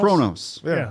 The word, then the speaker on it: Kronos: Kronos.